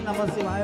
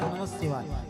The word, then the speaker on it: नमः शिवाय: नमः शिवाय का एक जो है एक मात्रा का लोप हो जाता है, भगवान का नाम का उच्चारण नहीं, ये दूसरा उच्चारण हो जाता है। इसलिए जल्दी जल्दी के चक्कर में नमः शिवाय मत बोला करो। लगता है ऐसे ही नमः शिवाय जल्दी जल्दी बोलने में, लेकिन शुद्ध उच्चारण होना चाहिए।